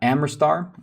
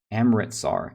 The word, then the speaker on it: Amritsar: sort of rebellion uh at amerstar i think i'm am amritsar amritsar i've been saying it wrong uh the amit star